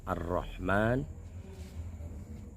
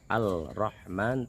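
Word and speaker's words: الرحمن: Alhamdulillah, yang kemarin pembahasan itu adalah kalimah Ar-Rahman, Ar-Rahmanir Rahim, dengan dibacanya Al-Rahman tanpa idgham atau tanpa tasdid di sini.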